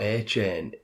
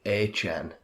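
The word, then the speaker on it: Achane: It's not A-Chain, it's like A-Chan.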